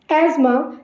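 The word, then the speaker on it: asthma: एज़मा, इसकी pronunciation पे ध्यान दीजिएगा, इसको हम अस्थमा नहीं बोलते, इसे हम एज़मा कहते हैं, एज़मा।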